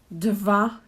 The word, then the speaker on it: dva: So I know it could be a bit tricky, but try to merge the dva into one syllable.